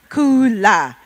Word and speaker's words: Kula: Is it Kula or Kola? Kula. Yes, Kula Brands, I got it right.